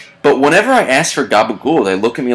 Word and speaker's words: capicola: whenever I ask for gabagool they look at me like I have two heads should I pronounce it the right way which should be capicola no question marks i